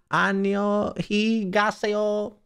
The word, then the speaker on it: 안녕히 가세요: 안녕히 가세요. 안녕히 가세요. 안녕히 가세요. It's so bad. I love it. Is thank you in formal way. So, don't pronounce the H, E. So it's E.